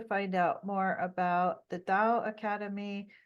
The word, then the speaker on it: Tao: you'd like to find out more about the da Academy da is spelled Tao and you can go to Da